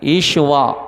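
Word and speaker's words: ישוע: మనకు తెలుగులో ఉంది గానీ ఈషువా అంటారు ఈషువ ఏమంట చెప్పండి విన్నారా హెబ్రీయులు ఏమంటారంటే ఈషువా అంటారు దాన్ని మనం తెలుగులో ఏమని రాశారు యేసు అంటే పలికే కేఆ ఉచ్చారణలో కూడా తేడా ఉంది భాష భాషకే తేడా ఉంది.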